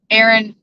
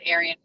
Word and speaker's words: Aaron: Aaron, I'm sorry, I said Arian.